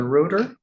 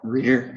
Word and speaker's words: Reuter: Reuter. Good morning, sir. Are you Reuter? Reader, yes, sir. How do you say it? Reader. Reader.